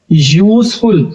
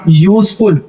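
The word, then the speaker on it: useful: एक आइट, देखिए कैसे शुरू हुआ, एक आइट, ए बॉटल, यूजफुल, देखिए हालांकि यहाँ पे यूज ये वोवेल है लेकिन इसका उच्चारण यूजफुल, यहाँ कह रहा है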